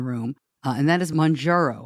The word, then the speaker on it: Mounjaro: uh and that is murro am I saying that right murro yes I say it like an Italian mro um and we have